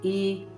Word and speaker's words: juízes: Agora, quando eu falo a palavra juiz no plural, é tudo separado. Juízes.